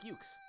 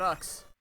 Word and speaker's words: Ukes: He told me to say his name like Ukes. It's not Ux.